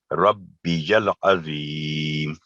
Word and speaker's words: ربی العظیم: العظیم، سبحان ربی العظیم، یہ اس کا تلفظ غلط ہے، ربی العظیم، ربی العظیم. تو یہ ہے اس کا صحیح تلفظ.